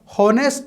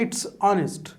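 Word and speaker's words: honest: अब एच को जैसे आप बोलते हो तो ऑनेस्ट, ऑनेस्ट, अ साउंड कर, तो एन ऑनेस्ट बॉय। हॉनेस्ट नहीं है, इट्स ऑनेस्ट।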